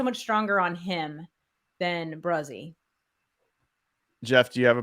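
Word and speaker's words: Bresee: Bruzzy. I know. I gotta learn it. I'm going to the draft, so I gotta remember that. So Bruzzy.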